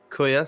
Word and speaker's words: Kuya: And I've just been told in the live chat that it is Kuya. So, Luke, you've been right with your pronunciation.